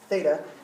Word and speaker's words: Theta: a Greek letter and it's spelled Theta looks like the with a TA Theta and it's very common